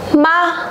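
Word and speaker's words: 吗: Các bạn lưu ý là ở trên cái chữ ma này không có gì đây nhỉ? Không có thanh điệu. Vậy nó chính là thanh. Chính xác, thanh nhẹ.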